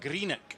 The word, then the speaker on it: Greenock: Let's get this pronunciation of you correct. Greenock.